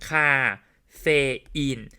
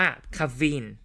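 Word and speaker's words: caffeine: แบบ นี้ ถูก มย เรา อ่าน แยก ที ละ บรรทัด แยก ที ละ พยางค์ คาเฟอีน แต่ ว่า ใน ภาษา อังกฤษ ไม่ ว่า จะ เป็น สำเนียง อังกฤษ หรือ สำเนียง อเมริกัน และ ใน ข้อ สอบ ออก เสียง ว่า คาฟิน มัน ไม่ มี เฟ นะ เค้า ออก เสียง ควบ กัน ครับ ใน ภาษา อังกฤษ เค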